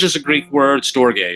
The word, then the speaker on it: storge: it longer than that storage is a Greek word storge is the way you really pronounce it it's a Greek word um and it refers